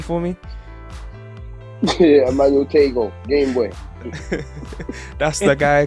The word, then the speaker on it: Emmanuel Tagoe: Yeah, Emmanuel Tagoe, Game Boy.